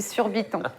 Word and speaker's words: Surbiton: Tu vois On rappelle la prononciation de Coco, qui nous a dit surbiton.